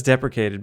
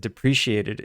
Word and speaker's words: deprecated: now here's the question it says deprecated but people pronounce it depreciated it's very common why is this moas were you here yesterday when I said depreciated when it was spelled